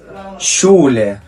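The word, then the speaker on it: Schule: اللي معانا بعد كده شولا شولا يعني مدرسه معانا هنا مقطع الاس سي اتش نطق ش الكلمه اللي معان بعد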